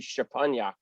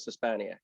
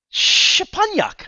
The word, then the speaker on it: Szczepaniak: the old country, if we were in Poland, it would be Szczepaniak. But we're not there, so we're here, so we're gonna go with Szczepaniak. Szczepaniak.